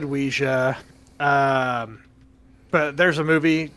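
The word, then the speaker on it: Ouija: and sales and then some people say it's supposed to be wisha so there are people correcting it oh no that I'm getting out of that cess pool get out of there run I've I've always said oua um but there's a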